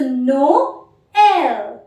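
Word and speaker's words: Noël: accent is लक्सो त्रेमा you pronounce to to alphabets separately so नो एल in today's lesson we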